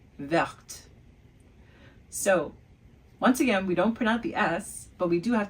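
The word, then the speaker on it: vertes: Now notice I pronounced the T for the plural form. So, Is it a masculine plural or a feminine plural, I said? Ooh. Did you guess it? That's right. I said the feminine plural because I pronounced the T, verte.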